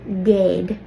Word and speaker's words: géad: So when we eclipse céad, it turns to géad.